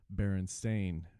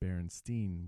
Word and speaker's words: Berenstain: So it says you may remember the famous Berenstain Bears cartoon book and TV series. Sure, we remember them too, but the fact is that the name of the series is Berenstain with an A rather than Berenstein with an E.